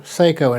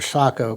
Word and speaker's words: Sako: And even Seiko in Finland, or Sako, correct pronunciation, in Finland, were producing some Mauser pattern actions that were being used by Weatherby, all during these mid-50s.